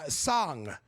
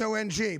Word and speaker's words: Song: Okay, well that's S-O-N-G, but it's pronounced Song, not Song. That seems like a normal Asian name. It feels like from the Far East, right? Yeah. So Song, I want to be clear, it's not Song.